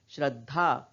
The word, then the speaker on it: श्रद्धा: श्रद्धा, हम इसे श्रद्धा, श्रद्धा नहीं पढ़ते, क्या पढ़ते हैं, श्रद्धा। क्या उच्चारण करते हैं, श्रद्धा। क्यों, क्योंकि बीच का ये जो द है इसको हम आधा ही उच्चारण कर रहे हैं, आधा ही बोल रहे हैं। और आधा क्यों बोल रहे हैं, क्योंकि द में हल चिन्ह लगा है।